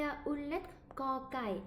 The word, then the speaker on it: ก: Mais le cocaille ici, si la consonne cocaille est à la fin d'un mot, là, c'est le son K. C'est le K sec.